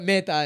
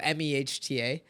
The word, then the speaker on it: Mehta: But Mehta is how you say it. So Mehta.